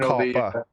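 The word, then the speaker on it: COPPA: Is that how they pronounce it? Copper.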